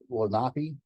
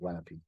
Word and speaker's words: Lenape: The lake here is Lake Lenape. I believe the proper pronunciation is closer to Lenape, the Indian pronunciation, but everybody calls it Lenape.